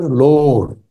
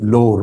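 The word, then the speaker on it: Loret: उसका नाम है विक्टर लोर विक्टर लोड फ्रेंच है फ्रांसीसी मगर बोलने में लोर बोलते हैं टी साइलेंट वो पहुंचता है अक्सर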